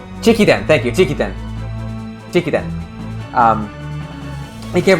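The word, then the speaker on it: 直伝: It's chokuden.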